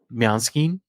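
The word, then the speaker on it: Måneskin: to pronounce it it's main skin well that's how we pronounce it but I think they pronounce it differently in Italy probably um I call them mekin it could be that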